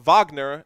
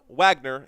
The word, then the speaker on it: Wagner: and his name is W Vagner and not Wagner even though it's spelled Wagner.